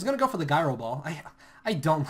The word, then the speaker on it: Gyro Ball: to go for the gyro ball I I don't like when people will say gyob ball it's gyro ball and the only reason